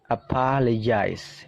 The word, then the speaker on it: apologize: Apologize. Nah, di situ dibaca J ya. Ada simbol aneh seperti itu dibaca J. Apologize.